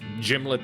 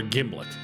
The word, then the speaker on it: gimlet: how to pronounce it according to the manufacturer it rhymes with himlet so it's gimlet or gimlet splish smash posted